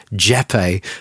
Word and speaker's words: Jeppe: In the conversation, I ask if it's pronounced Jeppe, and Asker replies, yep. And I thought he was saying, yep.